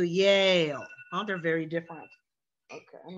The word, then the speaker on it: Yale: j and the yeah it's very different to say he went to jail versus he went to yale oh they're very different